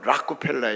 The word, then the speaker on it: 록펠러: 하나는 록펠러는 사람이 록펠러 원래 발음은 라크 펠러 라크 펠러 우리가 록펠러 록펠러 지 펠라고 있고 또